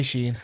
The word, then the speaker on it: Shein: I thought you said it's Do you say Sheen or Shen? I say Sheen. Because someone said Shen the other day and I was like, no, you're just wrong. I mean, if you look at the way it's spelled, it's Shein. It's Sheen, yeah.